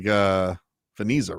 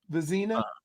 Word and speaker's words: Vezina: It looks like Veniza, right? Vezina. Vezina. Vezina, yeah.